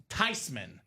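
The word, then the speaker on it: Theismann: Cuz it's actually pronounced Tyman. It's a German name, Ricky.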